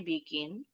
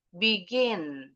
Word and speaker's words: begin: Jadi, contoh kayak umpama ee dua suku kata begin tulisannya begin. Nah, ini kata kerja. Kalau kata kerja ada dua suku kata, intonasinya lebih tinggi tuh di suata kedua itu pasti begin. begin. Jadi bukan begin bukan begin.